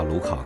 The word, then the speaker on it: Luqa: (Five times faster) We are about to land at Malta Luqa International Airport. But the "q" in Luqa is pronounced as "e", so it should be pronounced "Luqa Airport" Walking down the gangway and onto the